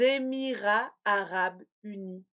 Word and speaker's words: Émirats arabes unis: Oui, si le pays commence par une voyelle, je vais faire la liaison en Z. Par exemple, les États-Unis ou les Émirats arabes unis.